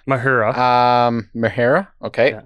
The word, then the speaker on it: Mahura: So I don't know how to exactly pronounce his name, and I'm sorry, but I believe it's Josh Mahura. Mahura.